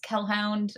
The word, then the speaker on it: Kellhound: My Twitter is Kellhound. It's spelled like Hellhound, but with a K.